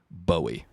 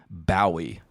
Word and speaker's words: Bowie: David Bowie consistently pronounces his name Bowie, the way we're doing it right now. But British people would typically see that name and say Bowie. And apart from that, a third way, I've also heard people say Bowie sometimes. Well, that's how the American name is pronounced.